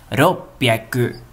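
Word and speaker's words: 六百: Não é roku, que é o 6 e depois o 100. A escrita é assim, né? O 6 e o 100. Roku e depois hyaku. Mas para ler, ele fica assim. Ropyaku. Ropyaku. Ropyaku. Com 2 P's, né?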